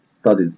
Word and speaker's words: studies: وعندي في كلمة Social ال CIA بتنطق شا Social, و Studies ال S في آخر الكلمة بتنطق Z Studies, يبقى على بعضها Social Studies.